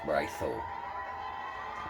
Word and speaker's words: raiđo: just a regular D, raiđo, but it's still pronounced raiđo.